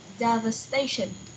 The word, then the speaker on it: devastation: or no Java station Devastation so the stress for this word is on the first syllable devastation is Devastation okay